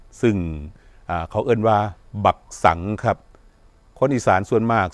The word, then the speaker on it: สังข์: ขอ เสนอ คำ ว่า สังข์ ครับ คำ ว่า สังข์ ออก เสียง ว่า สัง คือ กัน ครับ คำ ว่า สั่ง